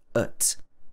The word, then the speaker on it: at: So in the UK, you'd probably hear this, and at is pronounced ut, ut, or even ut, ut, like that with a glottal stop. We don't say the T.